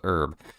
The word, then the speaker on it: herb: or I think it depends on how you pronounce herb being British we say it properly with a h uh yeah that's all